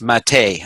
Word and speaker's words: MATE: the old genome it's spelled mate but it's pronounced Mattei I heard I just learned that the other